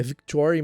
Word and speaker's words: Victoire: Guy Weasley e Fleur Delacour tiveram 3 filhos, a Victoire, que é Victoire, mas a pronúncia é francesa, chique, não?